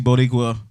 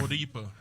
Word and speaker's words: Bodipa: I promise you, within the next 2 months, you will see Bodipa.